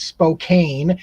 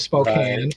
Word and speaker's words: Spokane: The ones that around here that get mispronounced all the time is Spokane instead of Right. Spokane or Yakima instead of Yakima, right? Those are common misspellings or mispronunciations, which again, if you're